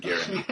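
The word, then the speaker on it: Göring: Yeah, well, and you open your book with his, is his name pronounced Goring or Gehring? Herman, Nazi guy. I've always pronounced it Gehring.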